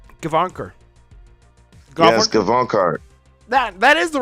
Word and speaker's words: Gavankar: Yes, Gavankar.